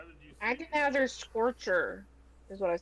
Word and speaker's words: Nebuchadnezzar: Take that Nebuchadnezzar snowball or whatever it was.